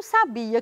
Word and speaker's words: sabia: cuidado com a pronúncia existem palavras que são muito parecidas mas mudam de sentido se você mudar o lugar da sílaba tônica quer ver alguns exemplos